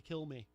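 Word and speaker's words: Kilmeade: I read somewhere that the D and his name is silent and it's actually kill me okey-dokey and so we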